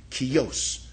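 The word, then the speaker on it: Kjos: Her name is Barrett Kios KJ OS pronounced Kios.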